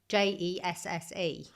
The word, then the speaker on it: Jesse: Yeah Jesse with an E. J E S S E I'd say was Jesse as in Jesse James.